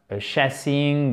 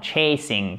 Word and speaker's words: chasing: The police were chasing him et pas chassing ou chasing. Non, non, chasing. Il faut vraiment faire, en plus, c'est une diphtongue.